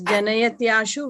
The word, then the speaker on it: Janayatyashu: Yes, Janayatyashu Vairagya. Janayatyashu. Yeah, you can like kind of split here, okay? Janayat and then Yashu. Like that you can try to pronounce, okay?